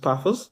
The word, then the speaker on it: Paphos: It was Chelsea against Paphos, if I Paphos, pronounce yeah, it yeah, properly, Paphos.